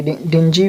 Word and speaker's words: dingy: डिंजी बोलेंगे तो भी चलेगा, मैंने यहाँ पे डिंजी लिखा है, देख सकते हैं। इसको डिंगी तो ऐसे बोलते ही नहीं, क्योंकि डिंगी मैंने पढ़ा